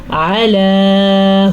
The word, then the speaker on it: علی: علی ھدی من ربہم، علی، عین کے تلفظ کا خاص خیال رکھنا ہے، یہ حلق سے نکلتا ہے، اور اس کو پڑھنے کے لیے مخرج پہ دھیان دینا بہت ضروری ہے۔ اگر ہم اس کو